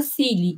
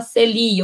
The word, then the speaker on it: Cili: cartas da cili Dani por que que você fala cili e não fala Celi ou C sei lá né porque cily é a pronúncia em inglês que se aproxima de boba isso tem a ver